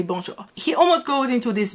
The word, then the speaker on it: bonjour: uses to say bonjour because when you like read someone you're not gonna say bonjour i'm gonna say bonjour you're gonna go a little higher up here i would say